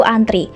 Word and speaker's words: antre: sini terlihat jelas bahwasanya penggunaan kata antri yang benar itu antre pakai e ya bukan I karena memang kalau kita mengacu pada kpbi yang baku Itu antre bukan antri namun cara bacanya tetap sama yaitu antri nomor dua juga hampir